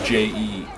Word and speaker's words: Jean: But I know it's Jean, Jean, like Jean.